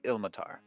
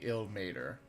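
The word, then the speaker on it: Ilmater: I don't really know no actually I like itll Matar better than ill mater probably right I believe it is technically ill mater the car just sounds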